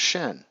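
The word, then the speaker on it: Shin: It's actually pronounced Shen, right? Same pronunciation.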